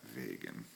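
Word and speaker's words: wegen: to use and the answer will come back vagan which is because vagan and remember it's pronounced like that vagan it's because all right h how this is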